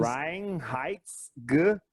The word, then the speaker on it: Reinheitsgebot: Ó, em alemão, a lei de pureza alemã se pronuncia Reinheitsgebot.